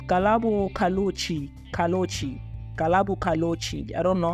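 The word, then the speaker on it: Ghaleb Cachalia: DA Shadow Prime, is it DA Shadow DA Public Enterprise Minister Galo Katalochi, is it it's Galabo Kalochi.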